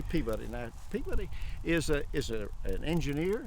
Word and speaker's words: Peabody: But Colonel Everett Peabody, and it's actually, in Massachusetts, they pronounce it Peabody. Peabody. But down here we call it Peabody, okay? That's just the way it is. If I say Peabody down here, nobody knows what I'm talking about.